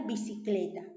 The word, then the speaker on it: bicicleta: Entonces, como tenemos ahí bicicleta, ¿dónde está la mayor fuerza de voz? ¿En qué sílaba está? En la penúltima, ¿cierto? En cle.